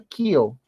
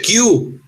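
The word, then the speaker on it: queue: Ok, se escribe Kewe, ¿ya? Y se pronuncia Kio. ¿Estoy bien así, Rocky? Kio. O sea, esto es un Kio. Kio. Tan fácil. Se pronuncia Q.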